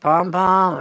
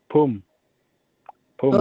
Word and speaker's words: pum pum: Is it pom pom or It's Pum. Pum Pum.